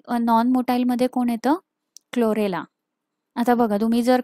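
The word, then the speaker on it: Chlorella: आहे ओके आता इथे क्लोरेला क्लो सी एच एल ओ रेला ओके सो हे तुम्ही प्रोनन्सिएशन वरती जास्त भर द्या व्हिडिओ रिवाईड करून तुम्ही परत परत बघा प्रोनन्सिएशन मी जस म्हणते तसच बोललात तर तुम्हाला स्पेलिंग चुकायची अजिबात शक्यता नाहीये सो नेक्स्ट पॉईंट काय आहे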